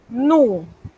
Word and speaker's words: nous: En español es nosotros, en francés, nous. Noten que la S me la he comido, como decimos en buen panameño. Ella no se pronuncia a menos que encontremos un caso especial que más tarde se los voy a explicar.